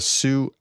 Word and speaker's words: Su: Russian channels are reporting that a sue su 25. I'm sorry. It's old habits die hard. I've been told that I should be pronouncing TU or SU Sue.